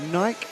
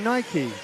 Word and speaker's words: Nike: it do you say Nike or do you say Nike you say in Spanish they say Nike I say Nike you say Porsche or Porsche Porsche so I think it's where you grow up your demographics I grew